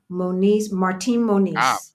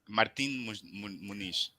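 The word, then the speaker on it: Martim Moniz: again so my my so my my tutor she was pronouncing something that had an m at the end right and I did not see her lips close to form the M sound okay Martin Moniz I'm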